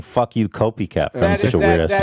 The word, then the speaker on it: Copiicatt: Copycat. Copycat. Well, it's spelled weird.